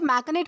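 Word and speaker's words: machinate: दोस्तों इसे मैकनेट प्रोनाउंस किया जाता है, जिसका मतलब होता है साजिश रचना, चाल चलना, षड्यंत्र रचना।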